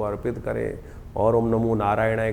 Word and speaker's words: नारायणाय: बिल्कुल सही होना चाहिए कई बार लोग मंत्र का जप करते करते थोड़ी सी गलती कर देते हैं नारायणाय नारायणाय नारायणा नारायणाय नारायण नाराय नहीं है नारायणाय ओम नमो नारायणाय इस